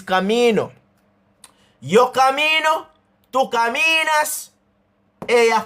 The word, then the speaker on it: camino: Because it ends with a vowel, the stress of the word falls on that part of the syllable. So even though it look like it say me, it is really saying me. Camino. That is why it is camino.